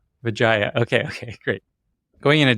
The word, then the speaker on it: Widjaja: I always forget how to pronounce her last name exactly, but I think it's Wajia, Crystal Wajia. Vijaya.